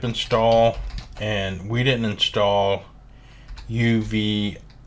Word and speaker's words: Uvicorn: and we didn't install Uvicorn. I always want to say unicorn, but it's like Uvicorn. However you pronounce it, Uvicorn, I guess.